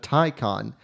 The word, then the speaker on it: Taycan: we're talking all things Porsche Tai Khan and yes that's how you say it Porsche just announced